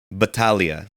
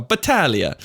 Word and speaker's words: Battaglia: didn't read the last name pronun pronunciation Clause of beginning unfortunately okay say me say your last name for me Batalia oh Batalia um that's it's actually it's Unwritten but you